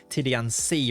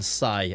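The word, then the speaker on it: Tidiane Sy: It'll be Nacho at right wing back and Tidy Ci as the left wing back. I am reliably informed that it's probably pronounced Tidian Ci rather than Sai as I've continued to call him.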